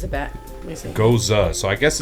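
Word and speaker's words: Gose: I always thought they were Gozes. G-O-S-E is Goze. I'm reading this, and it says Goza.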